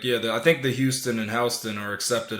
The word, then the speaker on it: Houston: up the classic one how do you say the Houston Street in Manhattan Houston yup exactly which is spelled just like Houston Texas say that's another one